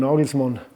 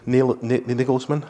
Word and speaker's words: Nagelsmann: Was he a young Julian Nagelsmann? Have I pronounced that right? Yeah, Nagelsmann.